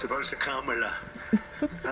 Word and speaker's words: Kamla: No, sir, it's a little different. It's Cam, right? Cam, as opposed to Calm.